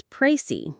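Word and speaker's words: précis: The IPA is prey. The final s is silent.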